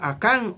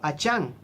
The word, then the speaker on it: Acán: Y eso pasó con Acán o Achán. Cualquiera de las dos pronunciaciones está bien, ya que aquí nosotros la pronunciamos de una forma, pero allá en Israel no, está muda.